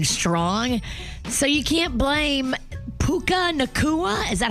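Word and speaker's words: Puka Nacua: So, you can't blame Puka Nakua.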